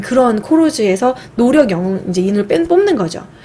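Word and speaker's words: колхоз: 짓는데, 이때 당시 소련은 코로즈라고 해서 이런, 코로즈 이렇게 발음을 하는데, 그런 집단 농장 제도가 있었어요.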